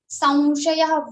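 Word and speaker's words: saṃśayaḥ: So we change this Anusara sound into Va Anunasik. So we will say Samshayaha, not Samshayaha or Samshayaha, but Samshayaha Va Anunasik. Va sound will come.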